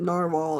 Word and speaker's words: Narwhal: uh and this is the U narwhal or navalur I think they prefer that you pronounce it narwhal if I'm correct um and on the band